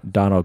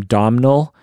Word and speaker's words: Domhnall: the robot boyfriend yes Donald Gleason I found out you don't call his name Domhnall it's a problem it's it's donal yeah oh no it's